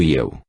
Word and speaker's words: Yao: Yao deve ser pronunciado Iel, vagarosamente e com vigor.